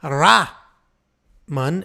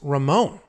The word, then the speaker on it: Ramon: It's not Ra-man. It's Ramon. I need an E or something.